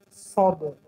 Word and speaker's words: صاد: این حرف در الفبای تاجیکی نیست، برای همین برای تلفظ کردن قفای زبان را برداشتن در کار و سری زبان را در دندانهای پایانی میگذاریم، در دندانهای پایانی و قفای زبان را میبنداریم.